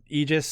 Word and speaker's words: Aegis: love it and I know I always say Aegis and I always screw that up and I piss off Navy guys so it's just now vernacular for me but you're right it is egis that's how it's pronounced yep egis uh In